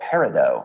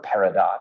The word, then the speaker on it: peridot: Sometimes when people carve olivine into a gemstone, it's called peridot or peridot, depending on how you want to pronounce it.